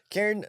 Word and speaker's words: Cairn: It's Cairn. Cairn. C-A-I-R-N. C-A? C-A-I-R-N. Oh, Cairn? Cairn. Cairn. Yeah, Cairn. Cairn. Cairn? Like care? Cairn? Like care? With an N.